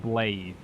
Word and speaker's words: Blaidd: offer you ample reward so blade is pronounced blade i'll put i've written